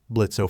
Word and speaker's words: Blitzo: know you you're that blitzo imp oh well the O is silent now you tried to